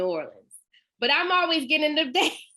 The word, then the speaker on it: Orleans: interesting thing is that when you say the word o-r-l-e-a-n-s without new it is pronounced orleans so the name of